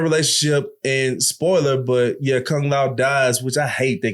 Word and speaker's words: Kung Lao: Did I pronounce his name right? Kung Lao?